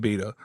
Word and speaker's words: b8ta: And we walked into this store called Beta, B8TA, pronounced Beta.